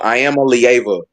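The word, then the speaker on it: Iamaleava: I am a lia is how you pronounce his name.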